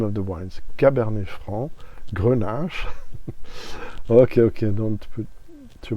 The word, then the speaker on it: Cabernet Franc: not say Franc, because the C you don't pronounce it in that circumstance. Merci beaucoup. I hate to hear Cab Franc. I mean, respect the name of the wines. Cabernet Franc, Grenache.